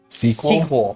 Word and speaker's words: SQL: It's pronounced sequel. Sequel. Okay, and that's historical. Why is that?